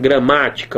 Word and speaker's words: gramática: A sílaba tônica não é a primeira, é a segunda sílaba. Mas pegue lá da referência correta, que é o final da palavra, né? É a antepenúltima sílaba.